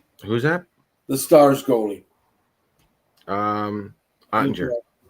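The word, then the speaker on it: Oettinger: How do you pronounce his name again? Who's that? The Stars goalie. Ottinger. Ottinger, that's right.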